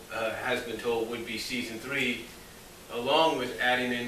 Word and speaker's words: Sea3son: the season staff basically season which is spelled s-e-a-3-s-o-n and what they're doing